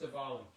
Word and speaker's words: Diwali: And it's not Diwali. I thought it was Diwali, but it's Diwali. It's pronounced Diwali.